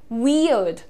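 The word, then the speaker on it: weird: में गलतियां होती हैं बहुत ही सिंपलीफाइड इसका प्रोनंसिएशन आप देखिए वियर्ड वियर्ड अड अड पे रुको ठीक है आर पे ध्यान मत दो आप आपको क्या बोलना है वियर्ड वियर्ड प्रॉपर वी और अड वी और अड यह तुम्हारा इंडियन एक्सेंट में भी यही प्रोनंसिएशन है वियर्ड ठीक है वी अड नेक्स्ट देखिए ये डेवलप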